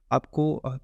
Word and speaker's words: a: इसको हम आ पढ़ेंगे, ए नहीं पढ़ेंगे, ठीक है, आ पढ़ेंगे।